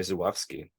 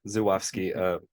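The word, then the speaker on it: Żuławski: There's a featurette with the composer who talks quite a bit about how Andrei Zuwowski, that's how you pronounce his name, Zuwowski, is how he works, how he thinks, because they grew up together and there's a whole backstory to it.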